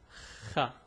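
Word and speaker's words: خ: The pronunciation is Kha.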